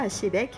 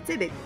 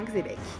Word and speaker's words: Xebec: Pour commencer, Xebec ne se prononce pas Achebek mais Xebec, ou simplement Xebec.